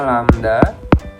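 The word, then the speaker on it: lambda: panjang gelombang yang terbentuk atau dibacanya lamda lamda adalah jarak atau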